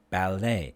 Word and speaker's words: ballet: a-i-g-h and then it crochet ballet these are french words so the t is silent so the a a